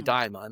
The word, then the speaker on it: Daemon: or as you say, Daimon. I've heard them pronounced both ways. I like Daemon.